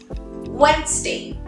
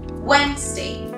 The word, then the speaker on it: Wednesday: Wednesday. Wednesday. La D en este caso no suena. Siguiente.